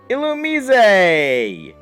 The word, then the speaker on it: Illumise: Next is, if you play Pokemon White version, Illumise! Yes, that is actually how the name is pronounced.